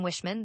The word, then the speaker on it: Wickman: Chambers noticed he pronounced the name Wishman.